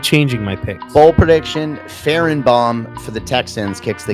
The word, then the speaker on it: Fairbairn: What'd you say his name was? Farrenbaum. His name's Farrenbaum, isn't it? I think it's like Fairbairn. or something. I don't know.